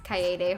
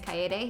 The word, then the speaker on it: Kaede: There's a meme in the third game that a character pronounces Kaede horribly wrong. Like instead of saying Kaede, he goes Kaede.